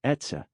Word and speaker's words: etxe: Another is etxe pronounced etsa meaning home in Basque which is the name of their shelter.